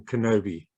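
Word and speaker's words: Knobbe: chat called Chris Kenobi he does pronounce his name Kenobi as in Obi-Wan um yeah it's a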